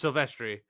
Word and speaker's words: Silvestri: Except you weren't close at all because it's Silvestri.